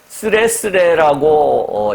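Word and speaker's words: 徒然: 여기서 도연이라고 하는 것은 일본식 한문인데요. 쓰레쓰레라고 읽는데요.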